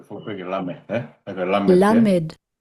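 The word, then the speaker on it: למד: La, Med, Lamed, L, as in gel.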